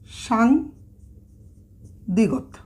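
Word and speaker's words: 쌍디귿: এই দুইটা দ্বিগত পাশাপাশি লিখব, তাহলে এটাকেও আমরা বলবো সাং দ্বিগত। সাং দ্বিগত, সাংদ্বিগত। তাহলে এটার উচ্চারণটা কি আসলো?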